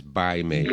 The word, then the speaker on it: Bai Mei: actually, the pronunciation is Bai Mei, but they spell it with a P, the old Pai way.